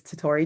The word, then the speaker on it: Tori: My name is Tori. Sounds like a stutter, but that is actually how you say my name.